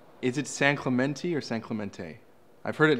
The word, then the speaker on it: San Clemente: I just wanted to know how the locals say it. So Yeah. it's San Clemente.